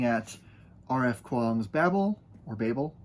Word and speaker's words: Babel: Um, I'm going to be looking at RF Kuang's Babel or Babel. I pronounce it Babel, but I have heard other people pronounce it the other way.